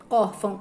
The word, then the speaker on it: órfão: Órfão, o acento tônico é or, porque a sílaba mais forte de órfão é or.